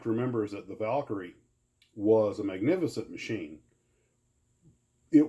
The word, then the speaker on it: Valkyrie: And the other thing was a Glue Trooper asked me about the XB-70 Valkyrie, or Valkyrie. I've heard it pronounced both ways, but I think it's Valkyrie.